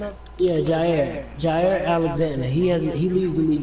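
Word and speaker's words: Jaire: His name is, I don't know, Jari Alexander off the Packers. Yes, sir. How you pronounce it? Yeah, Jair Alexander.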